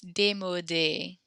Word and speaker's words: démodé: And then that last word, because there is actually an accent on that U, that means we pronounce it. So it's démodé.